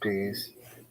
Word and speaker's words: Peasy: subject goes by the name of peasy pronounced peace first name may be